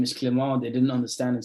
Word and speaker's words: Clement: They said, no, it's Clement. And funny enough, they can pronounce it.